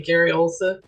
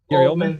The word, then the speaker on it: Gary Oldman: Gary Olsa? Is that his name? Oldman. Gary Oldman?